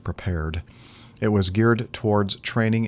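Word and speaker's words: Prepar3D: simulator called prepare prepared it looks like it's prepare 3d but it's i guess the three is kind of like being cool so it's pronounced prepared it was geared towards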